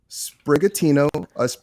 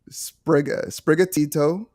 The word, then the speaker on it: Sprigatito: So that's going to be Sprigatino. I'm just going to tell you, I've been waiting for this. I wanted to hear the pronunciations. I'm already pronouncing them wrong. So it's Sprigatito, Foy Coco, and Quaxley.